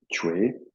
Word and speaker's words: Chui: Voilà, voilà, donc ce dernier exercice, Chue, ça s'écrit C-H-U-I, ça finit par I, je pense, de mémoire, Chui. Ça s'écrit Chui, hein, ça se prononce plutôt Chue. Chue, un T, TCH au départ, Chue.